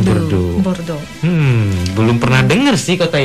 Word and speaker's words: Bordeaux: Tulisannya Bordeaux gitu ya, bacanya Bordeaux. Bacanya Bordeaux.